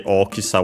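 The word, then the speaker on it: 大きさ: Uh and by the way Okisa was unacented. So be careful despite Oki being accented.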